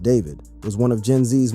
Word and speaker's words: D4vd: Before the tragedy, David, pronounced David, was one of Gen Z's most promising alt pop talents.